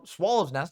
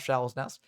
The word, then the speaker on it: Swallow's Nest: Next up, we got Swallow's Nest, not Shallow's Nest.